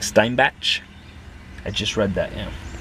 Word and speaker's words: Steinbach: of steinback on Google steinback is spelled with the E before the i s t e i n b a c h so sort of like Stein batch well hello totally different